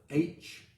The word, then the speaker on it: Hur: We also meet for the first time a person that we spell it H-U-R.